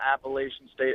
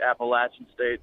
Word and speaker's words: Appalachian: ohio state oklahoma and appalachian state not appalachian state appalachian state don't say it wrong but they have three